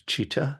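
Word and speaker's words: citta: uh in in Buddhism this is cheetah CI TTA a the C is pronounced like a CH in English so often people translate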